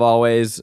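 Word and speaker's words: Alvvays: it's called Blue rev I love always uh it's spelled with two v's always and I love them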